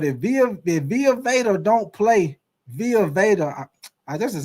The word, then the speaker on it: Vita Vea: But if Via Veda don't play, Via Veda, this is how you say his name, Via Veda.